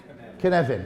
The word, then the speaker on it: Cynefin: And he's very proudly Welsh, hence the name of his framework, which I think is pronounced Cynefin. Is that right? Cynefin. Oh, thank you. Second syllable.